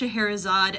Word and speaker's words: Scheherazade: into English from German, it started getting spelled this way for English readers pronounced Shaharazad, at least from 1801.